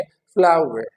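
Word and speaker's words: flour: तो इसकी जो प्रोनाउंसिएशन है इट इज नॉट फ्लोर, ये फ्लोर नहीं है, फ्लावर।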